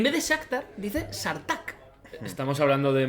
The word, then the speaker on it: Shakhtar: Y luego, gente que dice Sartak. En vez de Shakhtar, dice Sartak.